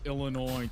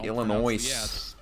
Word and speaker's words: Illinois: Uh, you must love Illinois, too, cuz it got the S on the end. But if you Illinois Illinois my